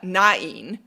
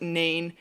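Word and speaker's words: Náin: Balrog, and his son Nain, and some people pronounce it Nain. I saw a really convincing argument to pronounce everything with 2 syllables, so that's what I'm going to roll with.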